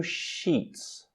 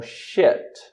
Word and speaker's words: sheet: E o novo episódio, o episódio de hoje se chama New Sheets. New Sheets, novos lençóis, tá? E não confundam a pronúncia de sheet, que é lençol ou folha, com shit.